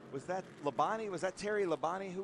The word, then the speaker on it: Labonte: If you're it's Labonte is how you're supposed to say it. But if you're NASCAR, it's Labonte. Labonte. Or just they try to make everything one less syllable.